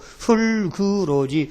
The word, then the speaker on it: 흙으로: 중모음은 뒤에 받침이 다음 모음하고 연음돼 가지고 흙으로지 흙으로가 아닙니다. 이 분명히 표준 발음입니다.